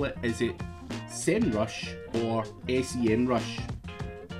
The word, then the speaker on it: Semrush: but i'm from america i know a lot of the europeans and folks outside of the states say senrush but i say sem rush semrush of course i